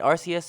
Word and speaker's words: Arceus: it has finally arrived legends arceus and i'm pronouncing it arceus and there's not a goddamn thing you can